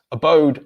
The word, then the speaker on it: abode: And that is because the stressed syllable is on the second syllable. So the pronunciation of the letter A in each of these words is which is the schwa sound, in the word apple,